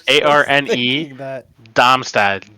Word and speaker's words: Darmstadt: Darmstadt, Damstadt. No, it's arm dumb step. I mean, The strongest men around. Yeah, even in German it's Darmstadt, so like it's like saying Darmstadt.